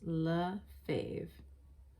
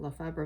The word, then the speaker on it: Lefebvre: fav in case you're wondering that's how you pronounce my last name it's love fav it's my husband's name my married last name